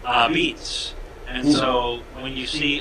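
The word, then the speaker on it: apizza: Yeah, they are actually an homage to New Haven, because in New Haven you would pronounce the word A-P-I-Z-Z-A, beets.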